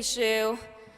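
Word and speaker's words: Xu: my name is shu it's pronounced a bit like the shoe on her feet and just like so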